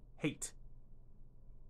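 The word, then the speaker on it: Hayt: most part he is the Menat eight and that's spelled h YT h a YT my bad h a YT hate that's how you spell his name anyway moving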